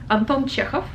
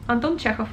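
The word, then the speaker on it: Антон Чехов: one well everybody knows anton chekhov quite easy anton chekhov very short anton chekhov cool so those were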